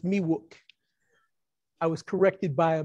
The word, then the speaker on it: Miwok: A lot of people mispronounce that. They say Miwok. It's Miwok.